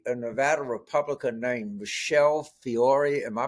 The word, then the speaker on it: Fiore: And my favorite might be a Nevada Republican named Michelle Fiore. Am I pronouncing her name right?